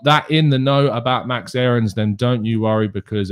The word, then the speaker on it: Max Aarons: not Max Aarons, but his name is indeed Max Aarons. And that is how it is pronounced according to the man himself.